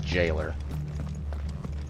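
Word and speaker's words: gaol: the word but yeah g-a-o-l does not sound like supposed to be pronounced to jail to me but to my understanding it's actually the exact same pronunciation let's see what we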